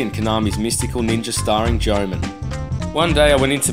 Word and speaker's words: Goemon: Just a small disclaimer, the game's actually pronounced Goemon, not Goemon.